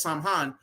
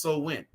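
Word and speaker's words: Samhain: Slow Wind it's locket it looks like it says Sam Hunt but that's actually pronounced so when right which goes back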